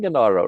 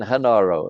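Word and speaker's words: Genaro: with it right but I like saying Garo rather than hanaro right so he's done Garo to me I know it's hanaro or Garo or pronounced differently but you know that's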